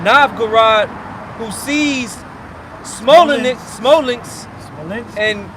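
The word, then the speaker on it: Novgorod: Ruler of of Na Navg. Say it right. Nav Gurad.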